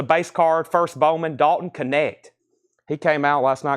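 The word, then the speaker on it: Knecht: Connect. Like connect the dot. Connect. Dalton Connect. He was at Rocky Top. $5. And that's actually his rookie card. It's just a base card, first Bowman, Dalton Connect.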